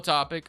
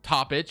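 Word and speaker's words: Topić: You have Nikola Topic, or sorry, Topic, I think is actually how you say it.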